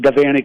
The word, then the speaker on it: Devaney: Notice I'm pronouncing Devaney correctly.